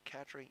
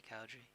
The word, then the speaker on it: Kadri: His surname does sound a bit like Cowdrey, if you don't say it properly. Kadri, yeah. Kadri.